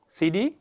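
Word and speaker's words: city: এই যে যদি টি এর আগে একটা ভাওয়াল থাকে প্লাস টি এর পরে আরেকটা ভাওয়াল থাকে, তাহলে এই টি এর উচ্চারণটা ওরা কি করে? অনেকটা ড সাউন্ডের মতো করে, ঠিক আছে?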